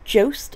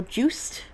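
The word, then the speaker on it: Joost: I think it's pronounced like toast, but Jost. I don't want to butcher somebody's name. I know. I seen on TikTok someone was like, it's like toast with a J.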